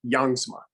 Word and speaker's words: Jongsma: character i believe his name was agent uh jongsma it's actually pronounced youngsman gotcha gotcha yep it's norwegian and heritage like